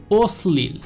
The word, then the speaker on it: অশ্লীল: উচ্চারণটা দ্বিতীয় হবে, অর্থাৎ এই শটা আমি দুইবার উচ্চারণ করব, একবার বলবো ওস, তারপরে আবার বলবো স্লিল, ওস স্লিল, অর্থাৎ এই লফালাটা শব্দের মাঝখানে